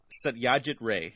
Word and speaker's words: Satyajit Ray: I can't even pronounce, like, American names, so... All right, ready? Satyajit Ray.